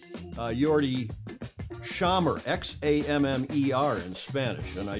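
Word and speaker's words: Xammar: have figured that out an x is pronounced like an s-h in english and i appreciate her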